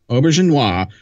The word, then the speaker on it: Auberjonois: Well, and Rene Auberjonois, how do you pronounce his name? I can never say his name. Auberjonois.